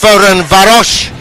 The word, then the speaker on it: Ferencváros: How do we know it's pronounced Ferencváros?